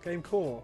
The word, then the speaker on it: GameCorp: GameCore. I think the P is silent.